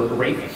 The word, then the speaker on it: Rafe: It was written by an English composer, Rafe Vaughan Williams. That's how you say his name. It's Rafe, not Ralph.